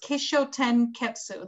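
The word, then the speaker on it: kishōtenketsu: i'm not pronouncing this wrong but i will spell it out if i need to it's kisho ten ketsu that is k-i-s-h-o-t-e-n uh uh k-e-t-s-u so i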